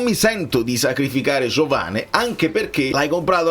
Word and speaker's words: Giovane: anche presentato al pubblico (si pronuncia Giovane, quindi va bene).